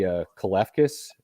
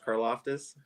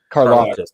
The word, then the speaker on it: Karlaftis: am amazed at all these mocks that see Kalefkis. Am I saying that right, Andy? Why do I always say his name wrong? George Karlaftis. Karlaftis, thank you.